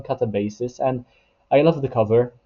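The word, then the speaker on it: Katabasis: I'll call this one Catabasis. I know there has been some um issues with the way the title is meant to be pronounced, but I'll call this one Catabasis.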